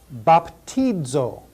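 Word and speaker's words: βαπτίζω: Baptizo. Baptizo. That's the verb that means I baptize. Baptizo.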